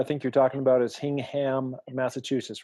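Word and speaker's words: Hingham: you're talking about is hing ham Massachusetts right yeah they pronounced it hanging with the suburb right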